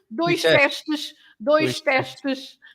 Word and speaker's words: teste: For example, teste. You have teste, which is the final letter for the syllable, and then tu. Teste. You don't say test like in English, but it's teste. Teste, yeah.